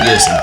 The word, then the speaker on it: Yersin: Is that pronounced right? Is it Yersin?